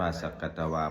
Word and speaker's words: สักกัตวา: มะมะ บท ที่ สักกัตวา สักกัตวา อ่าน ว่า สักกัตวา พุทธรัตนัง โอสะถัง อุตตะมัง วะรัง